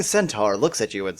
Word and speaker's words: centaur: corner the pretty young Cent Tower wow why can't I pronounce the word Centaur the pretty young Centaur looks at you and